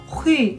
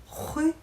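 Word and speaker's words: rue: 이 에흐 발음이 되게 어렵거든요. 지금도 어떻게 잘 안 되는 것 같은데 다시 해봐. 이래서 호이? 좀 더 입술을 모으고 이렇게 다시 해봐. 호이? 아니 다시 호이? 조금 더 공기를 빼야 돼.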